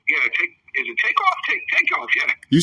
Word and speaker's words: Takeoff: Takeoff, yeah.